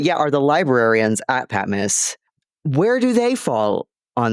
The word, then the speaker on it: Patmos: this area where at patm Miss did I say it right patm miss you did Pat oh yeah Pat Miss um the te is almost silent Pat yeah it's like you know